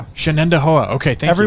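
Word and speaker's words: Shenendehowa: Shannendoa. Okay. Thank you. Everyone panics and says Shenandoa. It is spelled phonetically. Yeah. But everybody just sees it and just panics.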